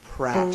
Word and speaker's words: Pratt: parastic twin Pratt Pratt R rhymes with bat okay and I was